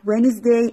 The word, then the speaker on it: Wednesday: W III and psdh why Wednesday and pitiful that D is silent T X you are